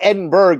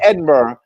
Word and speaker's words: Edinburgh: And we call it Edinburgh in this country, but it's Right. pronounced Edinburgh if you happen to be in Britain or in Scotland or someplace else in the United Kingdom.